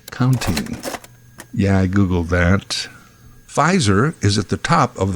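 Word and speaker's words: Pfizer: yeah I Googled that fizer is at the top of the Pharma Heap fiser PF i z e r the p is silent wow well that sounds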